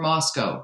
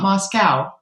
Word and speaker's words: Moscow: back a long time there are no cows in glasgow or moscow it's not moscow it's not glasgow i'm trying to remember how i pronounce moscow moscow anyway glasgow is